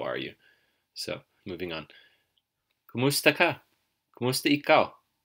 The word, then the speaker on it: kamusta: you how is it you'll notice the word kamusta is often spelled kamusta either way sounds right just as long as you make sure to stress the second syllable which is mu so kamusta kamusta either way works and you probably already